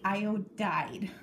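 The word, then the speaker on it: iodide: iodine one minus okay it sounds weird it ends up to be IOD died that's how you pronounce it i o DED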